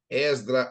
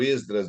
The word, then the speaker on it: Esdras: Esdra ou Esdras, de acordo com o que você fala, isso não altera nada. Alguns falam Esdras, outros falam Esdra. No hebraico, a palavra se pronunciaria Ezra, quase igual no espanhol.